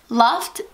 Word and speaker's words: Luft: Luft means air in German. So it's actually pronounced Luft. So I guess that does have a meaning.